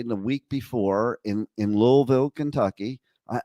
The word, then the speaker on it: Louisville: in Louisville Kentucky I I keep trying to say it right I think I'm saying it right now but probably not uh like I grew up with Louisville but I have to learn how to put that invisible L into the word okay uh but the